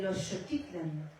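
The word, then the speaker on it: Xochitlán: El osochitlán que dicen que se pronuncia el shootitlan.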